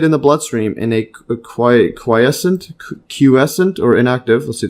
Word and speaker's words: quiescent: Memory B cells circulate in the bloodstream in a quiescent Qcent or inactive. Let's see the pronunciation.